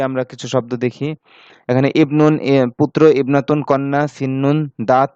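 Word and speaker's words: ابن: যেমন হিয়া ইমরাতুন আমরা পড়েছিলাম না, ঠিক অনুরূপভাবে ইবনুন, ইবনাতুনের ক্ষেত্রে এই আলিফটা লেখায় আসবে, উচ্চারণে আসবে না।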